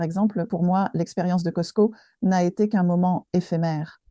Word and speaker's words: Costco: Mais la plupart des gens que je connais, quand on dit Costco, on dit Costco, non? Avec le S. On ne met pas l'accent sur le T. Le T ne se prononce pas.